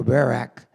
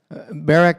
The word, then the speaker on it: Barak: One day she sent for Barak, that's how I pronounce it, son of Abimenam, and who lived in Kadesh in the land of Naphtali.